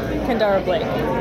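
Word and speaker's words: Kendare Blake: yet I do not yet know how to pronounce her name. She's from Gig Harbor, Washington, and you are? Kendara Blake.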